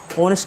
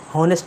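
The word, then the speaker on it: honest: द ऑनेस्ट, ऑनेस्ट का मतलब होता है ईमानदार। इसके बहुत लोग हॉनेस्ट पढ़ते हैं, तो हॉनेस्ट नहीं होता, इसमें एच साइलेंट है, तो इसे आप ऑनेस्ट पढ़ सकते हैं।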